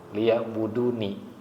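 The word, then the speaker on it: لِيَعْبُدُونِ: Ya, walaupun di sana dibacanya waqaf liya'budun tapi maknanya liya'buduni. Paham tak maksudnya kenapa? Kenapa maknanya liya'buduni walaupun dibaca liya'budun? Kita artikan dulu. Wa ma khalaqtul jinna. Apa artinya? Dan tidaklah aku, kata Allah, ciptakan ajinna, jin, wal insa, dan manusia, illa itu kecuali kan udah paham. Illa liya'buduni, untuk beribadah kepadaku. Makanya kalau membacanya boleh liya'budun, tapi makna tafsirnya liya'buduni, artinya ibadahnya ke Allah gitu.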